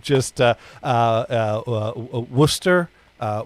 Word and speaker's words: Worcester: uh uh uh uh worcester uh wurster um call us the way it's spelled uh worchester right uh well i think it's technically orchestra uh well well i i